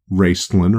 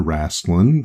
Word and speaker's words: Raistlin: But the Dragonlance Chronicles, the characters in that, Raistlin or Rastlin, depending on how you want to pronounce it, he had a staff and it made light.